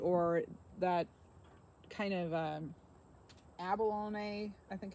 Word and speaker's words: abalone: to some of you awesome but it's uh Abalone abalone it's like an inside of a shell